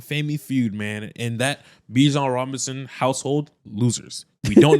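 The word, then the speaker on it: Bijan: Uh people that like to say Bjon, not Bjon. Winner. They made it clear that he wants to be pronounced BJ.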